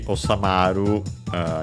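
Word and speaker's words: 収まる: By the way, osamaru is accented. Don't think I mentioned it before.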